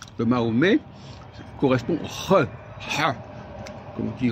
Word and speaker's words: Mahomet: Oui, ben Mahomet, on dit Mahomet parce qu'en français, on ne prononce pas la consonne finale, c'est tout, mais on écrit quand même le T.